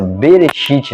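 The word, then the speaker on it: בראשית: Ela é uma palavra hebraica que tem uma pronúncia Bereshit, né?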